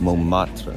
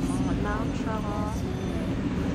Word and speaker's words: Montmartre: Say it, how do you pronounce it? Montmartre.